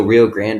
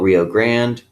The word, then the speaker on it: Rio Grande: So Rio Grande, it's actually pronounced Rio Grande. It's Spanish for big river, okay? And it's the border between Mexico and the United States, okay? We call it Rio Grande. In Spanish, it's Rio Grande, all right?